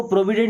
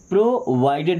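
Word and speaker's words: provided: अब देखिए pro weed इसको प्रोविडेड नहीं प्रोवाइडेड। देखिए वी आई डी तो वाइड है ना? प्रोवाइड प्रोवाइडेड क्या बन गया?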